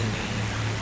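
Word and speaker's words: Nene: I mean, that looks like the Nen, or the Neen. The Neen, it's the Neen. Say it properly.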